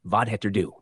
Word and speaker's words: vad heter du: Pronounced vad heter du.